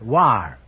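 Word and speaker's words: Loire: upon Ryan I'm sorry the correct answer is l o i r r e pronounce War they tell me so that means the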